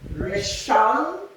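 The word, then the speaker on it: ראשון: So, the other, stress the last syllable. Rishon, alright, Shini, or Shinai, Shil, She, 3rd day.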